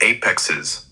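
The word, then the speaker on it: apices: The apexes, pronounced a y p i c e s, are the uppermost tips of the lungs, right under the collar bones.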